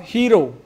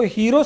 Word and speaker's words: hero: हमारा लेसन है वह हीरो हीरो हीरो कहते हैं इसको हीरो सही उच्चारण नहीं है इसका ही रॉव आ ही रॉ तो एक नायक कि